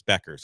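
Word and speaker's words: Bueckers: Yes, it is spelled in a way where you think it shouldn't be sound. It should sound like that, but it's Beckers.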